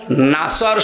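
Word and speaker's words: نصر: সাধারণ মানুষগুলো তেলাওয়াত করে নাসর শব্দের শাব্দিক অর্থ হচ্ছে সাহায্য আর নুন সিন নাসর মানে শকুন আপনি আল্লাহকে বলবেন যখন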